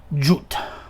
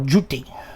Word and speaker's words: Thoth: And interestingly, I should point out that the name Thoth is completely wrong. There is no theta. There is no th sound. Those are th in ancient Egyptian. His actual name would have been pronounced like Jut or Juti.